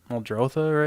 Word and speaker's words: Muldrotha: Muldrotha, right? That's how you say it.